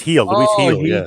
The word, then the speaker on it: Gil: how you oh yeah I always say Luis Gil but yeah it's heel I got my ass kicked